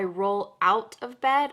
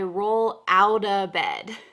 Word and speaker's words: roll out of bed: roll out of bed notice the pronunciation of this phrasal verb to roll out of bed i didn't say i roll out of bed i said i roll out a bed the t here is